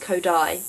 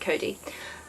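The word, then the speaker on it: Codie: like that because he thinks it should be pronounced Kodai because like you spelled I di II but I'd simple exit Cody and yeah I really like Ray for a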